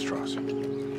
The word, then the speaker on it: Strauss: Oppie says, Mr. Strauss, it's pronounced Strauss. Oppenheimer, the way you say it, they know I'm Jewish.